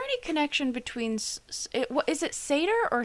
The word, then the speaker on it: Sator: Oh, I mispronounced it then. It's Sator, not Sartor.